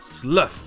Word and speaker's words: slough: C'est là que ça devient intéressant, le GH n'est plus muet. En effet, notre sixième prononciation est slough. C'est la mue d'un serpent. Quoi qu'il arrive, si le GH dans OUGH se prononce, il va se prononcer F.